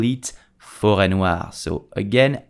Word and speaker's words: forêt noire: But in English we call it Black Forest and in French we call it Forêt Noire. So again, how do you pronounce it correctly?